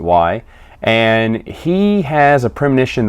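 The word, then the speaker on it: Whie: W-H-I-E, we or Y, I pronounce it Y.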